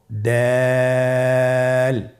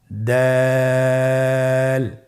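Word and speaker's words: دال: দাল হরফটি বারিক হরফ। এই হরফটি উচ্চারণ করার সময় আমরা অবশ্যই 3 আলিফ টেনে পড়ব। দাল। আমার সাথে আবার বলুন, দাল।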